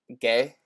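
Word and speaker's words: Gueye: Gay? Yeah, Idrissa Gay.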